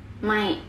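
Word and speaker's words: ไม่: Mai. Mai. Chai. Okay? So you just have chai, mai. You say that. Okay? Okay. Never have I ever had crush on any Naga famous personality. Mai.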